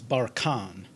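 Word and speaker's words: barchan: of the day for february 24th 2022 is bar khan bar khan it's a noun and it means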